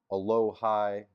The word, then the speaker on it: Alohi: So, we have received I think his name's pronounced a lowh high Gilman and a 2026 fifth round pick.